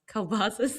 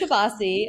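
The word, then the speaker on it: kolbassi: ] about you is how you pronounce Kbas because it's Kbasi. Okay. It is Kabasi. I have been confirmed by other Pittsburgers that it is Kapasi and Kabasi is the plural form of kilbasa kbasa.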